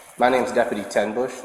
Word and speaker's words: Tenbusch: My name's Deputy Tenbush. It's t e n like the number, and Bush spelled like the beer, b u s c h.